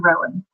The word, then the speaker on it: Rohan: I did name him after the writers of Rohan from Tolkien's books, the Lord of the Rings series, but when I pronounce my fella, he's Rowan.